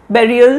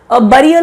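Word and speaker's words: burial: Mount बेरियल system है, mount of dead सुनते आते, माउंट ऑफ डेड सुनते आते हैं, ये वर्ड लिखा है माउंट बेरियल सिस्टम, बरियल नहीं, बेरियल system of a home dynasty of Assam.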